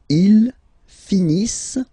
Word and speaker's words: finissent: Ils finissent. So remember, as usual, when we get the verbs E and T not pronounced.